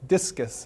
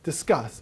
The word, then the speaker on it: Disqus: a tool called Disqus, which I constantly call Discus, and I think everybody does, but it's Disqus. It's pronounced Disqus.